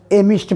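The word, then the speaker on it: amidst: के बीच में एमिस्ट का स्पेलिंग है ए एम आई डी एस टी ध्यान रखना डी साइलेंट रहता है एमिस्ट पढ़ा जाता है इसका अर्थ भी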